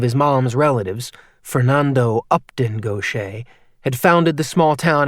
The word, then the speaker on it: Gautier: Gochce. He always mispronounced Nick's last name. He said it goch instead of the correct gocha.